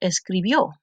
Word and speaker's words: escribió: We added the ending from the chart, which is IO, with the accent on the O, and we got escribió.